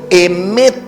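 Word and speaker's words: אמת: En hebreo se dice emet y se escribe con las letras Aleb, men y tab.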